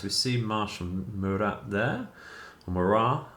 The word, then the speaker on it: Murat: Murat, I believe is the correct way to pronounce that.